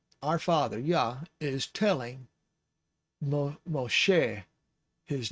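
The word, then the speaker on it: משה: is mo and then this is a sheen because the dot is on the leading edge of the sheen so that is a sh sound so it's mosh and then the segal underneath the sheen tells us that it's an e sound like egg mo che moshe is the name of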